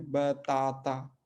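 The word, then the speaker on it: batata: लेकिन पहला वाला आ जो है साइलेंट है, बाकी दोनों आ जो है ओपन है, बताता, ठीक है।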